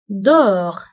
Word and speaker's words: dehors: وانتبهوا أيضا بالنسبة ل dedans و dehors كنكتبوهم بأس آخر الكلمة ولكنها لا تنطق dedans dehors داخل خارج.